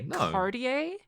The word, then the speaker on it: Cartier: it's pretty mispronouncing Cartier ktia like who's no one's saying do Americans say cardier card cardier cardier that's still fine whatever they're buying the